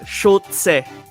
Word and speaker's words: Schulze: So technically, ang pinakatamang way to pronounce my last name is Schulze.